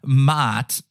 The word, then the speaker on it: Maat: against the feather of Maat. I know I sound like a goat there, but it's M-A-A-T.